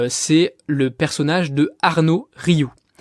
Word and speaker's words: Rioux: Il y a une personne qui utilise ça à merveille et c'est le personnage de Arnaud Rioux. Rioux, ça s'écrit R-I-O-U.